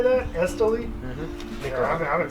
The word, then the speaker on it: Islay: how you say that, Islay.